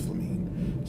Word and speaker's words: Flamine: Thancred said her name was pronounced Flamine.